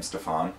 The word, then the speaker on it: Stefan: ranborne stephanie grossman uh stefan of course pronounces his name stefan but i haven't quite gotten used to that yet anyway um